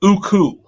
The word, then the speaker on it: Uku: But my original pronunciation, right, from my family growing up is Uku. Oh no. Uku. Okay. Uku. Okay. All right. But again, how you pronounced it, okay, it's not uncommon. Okay. I will say that. All right. But Uko is the correct pronunciation. is the correct pronunciation. With my family growing up over the years, it was always Uku.